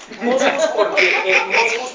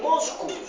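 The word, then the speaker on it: Mockus: Moscus porque en lituano su apellido se pronuncia Moscus.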